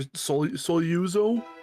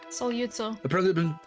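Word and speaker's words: Sogliuzzo: and that was still, I'm gonna botch his name, Aaron, but it was still, was it Andre Soluzo? Solyutso. Apparently I've been mispronouncing it my whole life.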